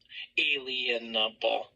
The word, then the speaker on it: inalienable: arguing back and forth about unalienable, unalienable, inalienable. That's how the right way to pronounce it.